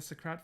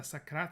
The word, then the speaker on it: Sakrat: youtube welcome back we are working on the socrat family again the sakrat family say it properly cohen and we are